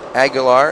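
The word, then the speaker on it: Aguilar: the questions we have agular however you want to say it yeah yeah it's a u i l a r but I I would say agular and and don't quote me on that exact pronunciation but I'm going to say that that's pretty close let's just put it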